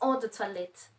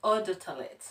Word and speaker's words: eau de toilette: That's eau de toilette. Eau de toilette. Yeah, eau de toilette. Mm-hmm. Yeah, she helps me pronounce those names.